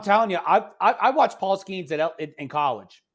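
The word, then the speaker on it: Skenes: Their newly starting pitcher, Paul Skeens. Is that how you pronounce his last name? Yes. LSU alum, baby.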